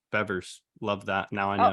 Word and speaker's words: Bevers: For some reason, I thought it was Beavers, but Bevers.